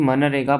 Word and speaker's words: मनरेगा: ए मगन मतलब वसे जी जो है ना ये साइलेंट होता है तो मनरेगा बोल देते हैं इसको लोग क्योंकि वो जी है ना साइलेंट ही रहता है एक तरीके से